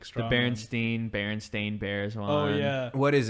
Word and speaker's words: Berenstain: really like strong berenstein berenstain bears oh yeah what is it what is the true berenstein berenstain it's berenstain s-t-a-i-n uh it has to